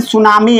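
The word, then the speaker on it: tsunami: या even सुनामी आ रहा है, सुनामी, सुनामी का स्पेलिंग सभी लोगों को आता है, टी इसमें साइलेंट होता है, नहीं पता है तो जान लीजिए, ठीक है।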